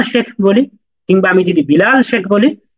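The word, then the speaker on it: ب: যে বে তে সে আপনি যদি বা এর উচ্চারণটাকে বে বলেন তাহলে কিন্তু ওই যে বিল্লালকে বাল্লাল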